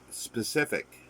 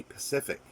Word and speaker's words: specific: uk is the word specific they will say pacific as the ocean the pacific ocean but they mean specific and the letter h